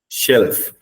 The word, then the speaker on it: shelf: So this is that same pronunciation. You have to start with shh. Shelf.